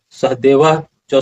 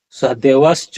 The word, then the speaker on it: सहदेव च: यहां बताते हैं अनंत विजयं राजा कुंती पुत्रो युधिष्ठिर नकुल सहदेव च सुघोष मणि पुष्पो इस तरह से यहां उच्चारण क्या होगा? सहदेवस च नहीं होगा। सहदेव च इस तरह से नकुल